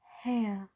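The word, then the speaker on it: Haigha: happy his name is ha you pronounced it so as to rhyme with mayor I love my love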